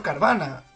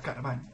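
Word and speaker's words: Carvanha: Años tardé, porque yo siempre había dicho Carvana o algo así, porque había una H, pero... En portugués, NH se pronuncia Ñ, entonces, pues, viene aquí a que yo diga Carvaña.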